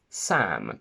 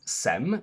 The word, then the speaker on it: Sam: For example, my name contains the quacky a, Sam, but most foreigners would pronounce it as Sem, which doesn't exist with or with a, but I understand some, which is SOME or SUM.